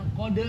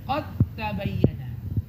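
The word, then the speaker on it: قد تبين: Ya, lihat dalnya enggak ditulis tanda sukunnya. Tanya-nya bertasydid langsung masukin dal ke ta dengan sempurna. Idgham kamil atau tam. Sehingga bacanya jangan qod lagi tapi qad tabayyana.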